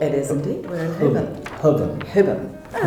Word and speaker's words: Holborn: This would be called Holborn. If I were to Did you read say it. Holborn? Holborn. Okay. Completely wrong. Holborn. Holborn. One more time, sorry. Holborn. Holborn. Holborn.